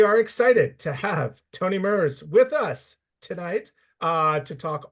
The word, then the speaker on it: Merz: And Merz, right? Soft Z.